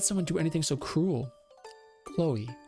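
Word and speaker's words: Kloe: like dang that's really cool I'm broke it's pronounced like Khloe I was it's not chlo a man but Chloe's cool all right Chloe um but why why would anyone do this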